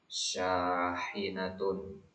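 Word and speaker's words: شاحنة: sayyaratun hafilatun hafilatun syahinatun ha tipis syahinatun darrojatun tasdid pada rnya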